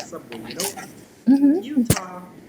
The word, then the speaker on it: Utah: Utah. Yes, the pronunciation of the letter, it's always like that, Utah, right?